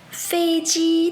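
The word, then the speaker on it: 飞机: Un avion, en chinois, c'est 飞机. 飞机. Attention à bien respecter le premier ton. De ce fait, vous pouvez dire 飞机在哪里? 飞机在哪里?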